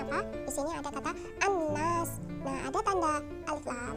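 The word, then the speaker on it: النَّاس: Di sini ada kata an-nas. Nah, ada tanda alif lam bertemu dengan nun yang merupakan salah satu dari huruf syamsiyah. Maka cara membacanya adalah dengan meleburkan an-nas gitu ya.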